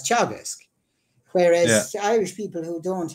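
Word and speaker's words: Teagasc: He still calls Teagask. He's unable to get his head around it, and he's not a stupid man, but it's just it's not in his brain to pronounce those letters as Chagask, whereas Irish people who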